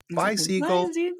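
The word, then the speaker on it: Bisiegel: I always tell them you're like you're saying bye to a seagull bye seagull seag and so now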